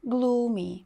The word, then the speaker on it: gloomy: тижня наступне слово glomy Зверніть увагу що подвоєння цих букв O читається як довге у glomy похмурий або ж дуже